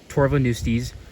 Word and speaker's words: Torvoneustes: I had to look it up before I uh started this video, but I'm pretty sure it's pronounced tovonis.